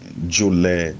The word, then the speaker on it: jule: and who is indolent in our language we pronounce it Julie Julie Julie Julie this man is